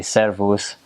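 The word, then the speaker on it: szervusz: um select that I need to make sure to roll your r's when you speak Hungarian so they say servos um if you're talking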